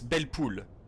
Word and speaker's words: Belle Poule: So either way, Well, wait, when you say belle poule, it sounds like you're saying it with a French accent. does it? Well, in French it's belle poule. That's how you say it in French.